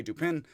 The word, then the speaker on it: Dupin: And again, I'm just going to say Dupin, fall flat with the French accent into the American, and not give a further damn madame.